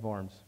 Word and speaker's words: Worms: the formal inquiry at varms it's if you look at the title in books it's the diet of worms it's not the diet of worms you got a German pronunciation W is a v so it's the diet